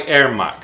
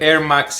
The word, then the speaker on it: Ermax: feels really really solid this is produced by erMax sorry for the accent the erMax is spelled e R max M a X it's